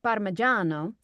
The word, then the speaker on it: Parmigiano: I mean, if you're going to use the Italian, it would be like Parmigiano.